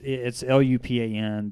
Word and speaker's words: Lupin: So it's Lupin. The I is. Yes, it's Lupan, but A-N. I-N. Yes, but the way that you pronounce it, Oh, A-N. it's actually a French word, like a Mhm. French name, because his character is